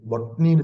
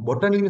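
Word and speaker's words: botany: தாவரவியல், பொட்னின்னு சொல்லுவாங்க. பொட்டனின்னு சொல்லுவாங்க. தெரியாதுல, அந்த ப்ரொனவுன்சியேஷன் வார வந்து பொட்டனி தான் வார. ஆனா நாங்க ப்ரொனவுன்ஸ் பண்ணக்குள்ள சரியா ப்ரொனவுன்ஸ் பண்ணணும்னா பொட்னி. பொட்னி அப்படி சொன்னா சரியா.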